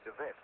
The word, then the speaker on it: DeWet: That's my name is spelled D E WT, but it's pronounced Dvet.